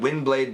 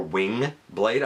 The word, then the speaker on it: Windblade: was by the way a lot of people call her wing blade i don't know why they say wing it's wind w-i-n-d i don't know where the kind of mispronunciation or whatever it comes from but it does exist it's wind blade um and it's so